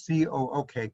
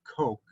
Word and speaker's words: Coke: with edward cook um note that it's pronounced c-o-o-k cook not coke um and you'll find